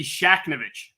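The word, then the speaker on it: Shakhnevich: it's not easy though if you look at it and you get rid of the H in the- Middle it becomes a little easier I'm a lawyer in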